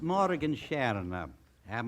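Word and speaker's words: Morgenstjerne: steerer good evening Miss Morgan Shar am I pronouncing it right Morgan Shara that's right Mr Bergen you pronounced it perfectly well thank you morning Shana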